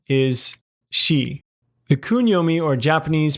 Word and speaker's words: 四: kanji for four the own Yomi or Chinese pronunciation is she the Yomi or Japanese pronunciations are yo-yoin and